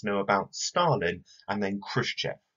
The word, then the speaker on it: Khrushchev: about Stalin and then Khrushchev or sometimes Khrushchev in the more appropriate Russian pronunciation this lesson we're gonna